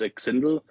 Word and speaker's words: XNDL: So I asked Dren to remix that, and I have like he's actually pronounced Xindel, but Okay.